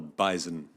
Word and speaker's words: bison: that is called the bison. It is. It does have a Z.